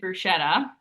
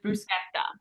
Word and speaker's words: bruschetta: So, you actually don't say it bruschetta. That is not the Italian way to pronounce it.